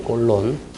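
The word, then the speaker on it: Cologne: 꼴론. 쾰른이 발음 비슷하죠, 그죠?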